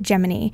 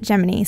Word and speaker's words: Gemini: twins of the constellation but NASA wanted to pronounce it differently and pronounced it geminy look up any any old NASA archive footage news reels from the giny program they all pronounce it gony so it might sound a little bit weird to you guys but I promise this is how it's pronounced when you're discussing the